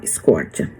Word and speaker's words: scorcher: E aí, colocando aqui como se fala, como se escreve essa palavra, é lógico que não escreve scorcha, mas se fala scorcha.